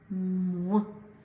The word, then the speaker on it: moins: Et le dernier, avec le S qui ne se prononce pas à la fin. Ce mot se lit moins.